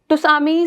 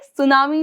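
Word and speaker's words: tsunami: में हम पढ़ेंगे बच्चे के टी साइलेंट होता है तो हम इसको ट सामी ना बोलके सुनामी बोलते हैं ठीक है तो ये टी आप प्रोनाउंस नहीं करते हैं चलिए अब बात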